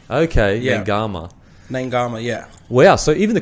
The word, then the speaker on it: Naiqama: have pronounce upon my full name is Kevin n gamma so the kids pronounced a G okay yeah gamma name gamma yeah yeah so even the commentators are getting